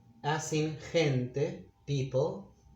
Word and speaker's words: gente: When it's followed by these vowels, it's pronounced H, as in gente, people, gente.